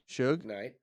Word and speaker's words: Suge Knight: Suge Suge Knight.